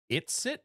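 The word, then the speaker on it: It's-It: Erin, you guys need to try it. It ice cream sandwiches.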